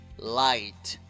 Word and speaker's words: light: light luz light luz por favor no pronuncies ninguna G light muy bien y luego